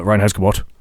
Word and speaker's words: Reinheitsgebot: And as a result of that, the Reinheitsgebot.